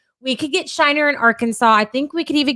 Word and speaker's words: Arkansas: Can't even spell it the way it sounds. Arkansas.